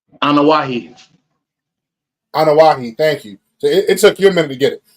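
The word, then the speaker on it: Anoa'i: how do you say the family name anahi anahi thank you it took you a minute to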